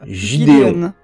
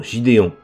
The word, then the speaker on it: Gideon: Le Moff Gideon. Non, Gideon. Non, Gideon. Non, Gideon. Non, mais ça se prononce G, le G en anglais. Bah, Gideon. C'est comme GIF.